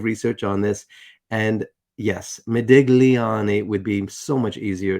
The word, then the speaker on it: Modigliani: It's, I guess, Americanized to say it like that, Modigliani. But it is Modigliani. And I'm probably not even pronouncing that right, but I know that the G is silent, and so that's what we'll go with.